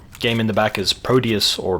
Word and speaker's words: Prodeus: Game in the back is Prodeus or Prodeus or Prodeus. The former is the proper pronunciation, but I'm a free man and I can say it however I want.